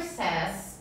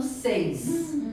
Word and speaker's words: says: Eu já vi até professor falando seis. É errado.